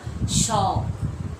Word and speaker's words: शौक: सो, समय ओ, क, शो, और यहाँ पर ओ की मात्रा यानी उच्चारण में क्या हो जाएगा? शौक, शौक, ओ की मात्रा है।